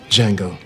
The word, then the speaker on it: Django: This movie is about Django. No, not Jamie Fox, the other guy. What's your name? Django. Can you spell it? D J A N G O. The D is silent.